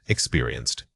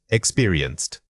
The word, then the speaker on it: experienced: Incorrect, experienced. Correct, experienced. Don't let your stress fall on the first syllable. It needs to be evenly distributed across all 3.